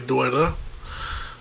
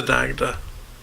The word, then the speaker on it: Dagda: be very close to, which is the Dagda, and that's the proper Irish pronunciation of what most Americans and a lot of Irish seem to mispronounce as the Dagda.